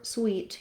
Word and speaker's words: sweet: So associating that with more of a word like red versus for sweet, you can think of green sweet or clean sweet. That should help you pronounce those correctly.